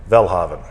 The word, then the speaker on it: Welhaven: god rest her soul she would actually say my name life velhavan which is very you know very norwegian very nordic and so so